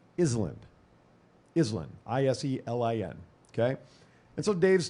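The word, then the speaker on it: Iselin: was born and raised there is called Island islin i-s-e-l-i-n okay and so Dave's talking about I'm actually driving here to the studio because I had a show at 9am and he pronounces it Iceland and I heard this the first time I'm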